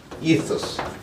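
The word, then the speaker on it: ethos: 요게 이소스. 영어로는 이소스라고 발음합니다.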